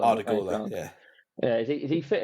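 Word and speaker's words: Güler: How you pronounce it, or Grula? Oh, the Gula, yeah.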